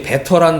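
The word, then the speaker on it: better: 하늘에 이 땅에서 받는 기업보다 더 낫고, 여기서 이제 베터라는 단어가 사용됐어요. 그죠? 베러. 그죠? 미국식 발음은 베러. 영국식 발음은 베터.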